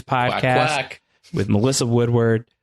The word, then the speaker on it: Woodward: with Melissa Woodward, not Woodwario. I do know how to say it, although it's really fun to say Woodwario.